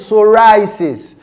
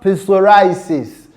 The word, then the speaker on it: psoriasis: We have psoriasis. The word is psoriasis, not psoriasis.